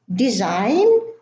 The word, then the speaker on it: design: Now the following list has a silent G: align, assign, benign, design, resign, sign, foreign. Now the G in all of those words is silent. We do not pronounce it.